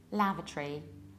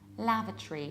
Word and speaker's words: lavatory: So, in British accent, we say lavatory, lavatory. So what happens is that we skip O, we reduce it, and you say tree like, what a beautiful great tree. Lavatory, lavatory.